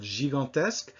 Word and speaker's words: gigantesque: in this last word, gigantesque, we have both pronunciations of the G, the letter G, right next to each other. Before an I, it's J, and before an A, it's G.